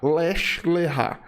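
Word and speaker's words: לך לך: na seguinte forma né Oeste o errar tá lech lechá Leste e se escreve assim l e k h traço lkh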